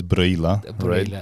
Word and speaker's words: Reghin: it's my first visit here I came to brilla they said that's brilla yeah pronounced in Romanian yeah and so possible listeners